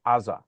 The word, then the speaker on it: Gaza: Uh, I want to call your attention to in in if you listen to Israelis, they never say Gaza, they say Aza because the first letter in Gaza is not a gimmel, but an iron.